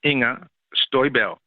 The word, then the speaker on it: Inger Støjberg: Her name is Inger Støjberg.